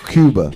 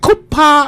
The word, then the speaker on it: Cuba: How you say his name? Cuba. It's Cuba. That's what I said. Cuba. You said Cooper.